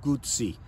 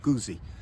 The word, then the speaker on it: Guzzi: in honor of Carlo gy and it is pronounced gy not guzy it's Italian at the end of there you